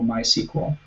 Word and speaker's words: MySQL: database using something called MySQL CEO sometimes here pronounced sequel or my sequel MySQL stands for a